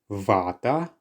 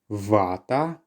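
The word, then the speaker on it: вата: The next word is vata. Vata.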